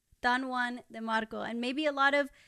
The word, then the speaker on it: Don Juan de Marco: Don Juan de Marco.